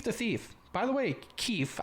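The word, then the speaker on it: Keef: thief by the way keith i'm not mispronouncing keith no keith k e f the thief 90 dogs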